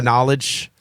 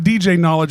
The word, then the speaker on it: KnowleDJ: It's not DJ knowledge. It's knowledge because knowledge DJ is built into the name. Correct. So tell them how you spell it so everybody can find your shit real quick. KNOWLEDJ. And it's like the DJ at the end.